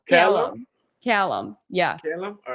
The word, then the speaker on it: Callum: Callum. Yeah. Callum, all right, It's Callum, not Cullum.